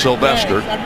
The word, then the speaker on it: Sylvestre: Looks like Sylvestre, but it's pronounced Sylvester, who had 4 tackles, 4 assists tonight.